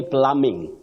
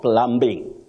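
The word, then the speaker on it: plumbing: of Nairobi you say pluming not pluming pluming no that b is silent you say pluming and Plummer or plumers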